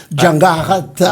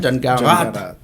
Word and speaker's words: Djangarata: Djangarata. Djangarata. mais à Madagascar, on ne dit pas le A à la fin. Yeah. Hein, Djangarata.